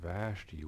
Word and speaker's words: Vashti: I just want to say that the Queen Vashti, I didn't say it right the first time, Queen Vashti was rebellious against the king.